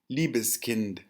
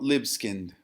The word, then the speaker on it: Libeskind: None other than Daniel Liebeskind auf Deutsch. Daniel Libeskind would be the pronunciation in American English.